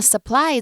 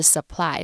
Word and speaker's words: supply: 那 supply 这个字呢，念法是 supply，不是 supply. I've heard so many people pronouncing it that way.